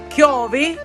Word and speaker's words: chiovi: And today, because it's raining, the word rain in Sicilian is Chiovi. In Italian is piove. It sounds the same, but the pronunciation is a little different.